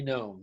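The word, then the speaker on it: Noem: do you say her name knowing christine christie gnome yeah i would she would be uh she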